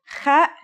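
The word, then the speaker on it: خ: Kha is a sound some people make when they laugh. It's also similar to the sound people make when they snore.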